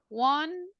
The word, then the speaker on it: wanted: The verbs that are ending in letter T or D, right? What is the pronunciation? We say Wanted. wanted. This is the same pronunciation for interested. Look, it's ending in T sound before the ED.